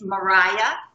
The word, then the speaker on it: Marije: I know her. It's Mariah.